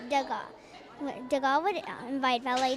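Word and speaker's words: Degas: to pronounce it right the s is silent um it says uh where is it oh this is okay uh facts about the god to god is pronounced douga de gaulle would invite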